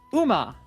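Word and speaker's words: う: Okay, pronounced U as in cool.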